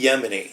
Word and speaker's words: Yemini: Yeah, Avi Yemini, and it's spelled exactly like Yemen the country with an I on the end.